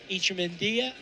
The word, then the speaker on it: Echemendia: a double and uh icha and if that sounds funny that is the correct pronunciation of his name and you don't hear